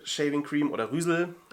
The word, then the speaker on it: Reuzel: Ich habe empfindliche Haut, ich habe relativ harte, borstigen Bart und die Reuzel Shaving Cream oder Rüsel auf Holländisch hoffentlich richtig ausgesprochen, weicht das Barthaar sehr